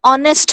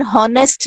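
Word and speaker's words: honest: फिर वही बात आ गई कि एन ऑनेस्ट बोलेंगे, इसको एन हॉनेस्ट नहीं बोलेंगे बेटा. एच की साउंड नहीं है यहाँ पे ऑनेस्ट की है, ओ की साउंड आ रही है. Okay, H is silent here, तो इसलिए इससे पहले भी एन आएगा.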